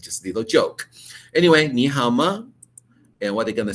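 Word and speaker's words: 你好吗: fine in time in Chinese or Mandarin you pronounce ni Hama nihama don't do the away around okay need to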